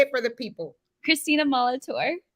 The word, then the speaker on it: Christina Molitor: girl it's glowing I get your did I pronounce your name right how do you say it say it for the People Christina Molitor Molitor yes welcome to the nitty grit I'm so